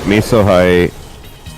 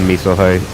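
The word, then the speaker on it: Mesohigh: I think it's pronounced Meso High, by the way. Because a Meso Cyclone is like a giant storm system.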